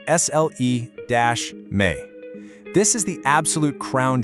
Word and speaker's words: Sljeme: Sljeme, pronounced S-L-E-Me.